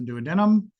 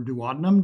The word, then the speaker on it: duodenum: It has the duodenum or duodenum, depending on how you want to say it.